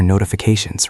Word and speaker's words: notification: In English, for words ending in tion, the stress is almost always on the syllable right before the ending. So it is not notification, it is not notification, it is notification. Mark, listen to that A sound.